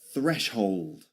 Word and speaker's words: threshold: Number 7, threshold. Threshold. Threshold. Again, that th sound at the beginning. The same you'll find in canción in Spain, in some areas of Spain.